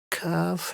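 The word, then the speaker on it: ك: And kaf has a lighter sound. The tongue stays more forward compared to qaf.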